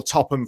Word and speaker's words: Topham: in in mind that my last name is pronounced top ham but you said it